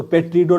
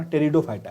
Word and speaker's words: टेरिडोफाइटा: आगे है टेरिडोफाइटा टेरिडोफाइटा या पी साइलेंट होता है। ठीक है ना? तो पेट्रिडो नहीं पढ़ना। टेरिडोफाइटा है ये।